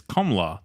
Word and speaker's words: Kamala: The Indian Hindi pronunciation of her name is Kamala. The second syllable A is very short. So Kamala.